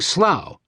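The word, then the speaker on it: Slough: The BBC satire The Office gave the town another image problem in the early 2000s, choosing slow rhymes with now as the setting for a fictional series about the comically dysfunctional branch of a paper merchant.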